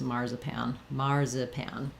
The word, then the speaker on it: marzipan: But I think most Native American speakers in English will say this word as marzipan.